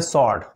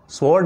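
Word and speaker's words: sword: हैं मिलिट्री सही उच्चारण स्वोर्ड यानी तलवार पढ़ने हैं शॉर्ट तलवार को स्वोर्ड नहीं पढ़कर स्वोर्ड पढ़ने हैं होटल में जो खाने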